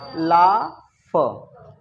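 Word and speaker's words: laugh: एल ए यू जी एच इसको क्या पढ़ेंगे ला फ है ना तो यह वो चीज है कितने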